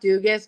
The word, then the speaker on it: Dugas: your last name correctly it's actually pronounced duus but everybody makes that mistake so it's it's totally